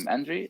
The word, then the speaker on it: Andrii: And so Andrii, for that's how I should pronounce the name. Andrii, is this correct?